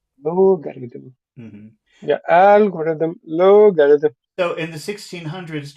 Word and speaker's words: algorithm: like Alor yeah the the sound is Alm and this is logarithm Lo yeah so the big sound is in the front algorithm logarithm lthm yeah algorithm logarithm so in the